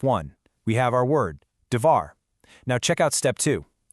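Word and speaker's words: דבר: It's pronounced, you know, kind of like dvar.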